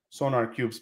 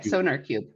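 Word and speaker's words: SonarQube: going to tell you you should turn on sonar cube's plug-in how do you spell that s-o-n-a-r-q-u-b uh-huh sorry sonar cube yeah and the reason why is that like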